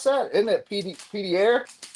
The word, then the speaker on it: Pierre: Hyder, did you mispronounce that? Isn't it Pierre? Pierre.